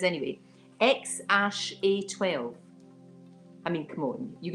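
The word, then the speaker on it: X Æ A-12: I think you pronounce it, this is what he says anyway, X-A12.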